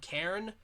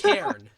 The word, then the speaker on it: Cairn: a new game called Karen. I thought it was Karen, like the You the did. things you find in the wild, but no, it's Cairn. One syllable.